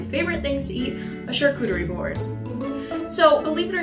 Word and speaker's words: charcuterie: hey google how do you pronounce charshootery that's pronounced charcuterie you're right hey guys